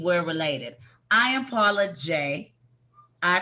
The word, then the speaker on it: Jai: does not mean we're related i am paula jay i pronounce it correctly it's sanskrit j poor from india it's means victory he pronounces it jai which is more of a french which means